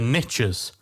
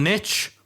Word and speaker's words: niche: riches are in the niches. Once again, I'm going to catch heat for taking the American pronunciation because, of course, in the UK, it's not niche, it's niche. We use the Francais pronunciation.